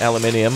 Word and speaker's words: aluminium: aluminium aluminium your next aluminum as we say in the US aluminium of course is the traditional pronunciation three carbon very good